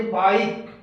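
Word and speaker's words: bike: इसी तरह से दूसरा वावल ई से पहले आई है तो इसको कहेंगे बाइक। ई साइलेंट रहेगा।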